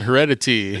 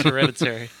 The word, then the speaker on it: Hereditary: There, see reviews on Heredity and etc. No one's going to get that. No, Hereditary. I know. It's Hereditary.